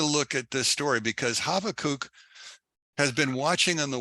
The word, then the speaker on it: Habakkuk: Now, it's not called Habakkuk in Christianity, it's called Habakkuk. But his real name is Habakkuk, because the B is actually a V sound. And it's a schwa, or a short U sound.